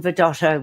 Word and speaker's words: Vidotto: It's Vidotto, exactly as it sounds and is spelled. Vidotto.